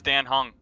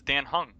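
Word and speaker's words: Dan Heng: more pretty boy though but yeah this is Dan hung that's how it's pronounced it's Dan hung you're telling me this man's not hung he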